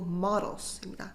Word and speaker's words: models: 발음은 모델 아니고 models입니다.